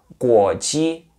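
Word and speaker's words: 国际: Exemplo, guoji, que significa internacional. Guo, segundo tom, ji, primeiro tom.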